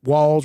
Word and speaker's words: Walz: I'm not caring what this man, Tim Walz, rhymes with balls.